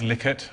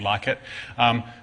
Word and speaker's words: Likert: Likert scale it is Likert I looked it up I'm and heard him pronounce his own name it's liket not like it so if it's a